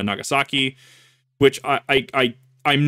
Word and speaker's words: Nagasaki: over uh after Hiroshima Nagasaki which I I I I'm not kidding when I tell you that people in Idaho that have taken Japanese as a class legitimately pronounced hirosima and nagasi and that that just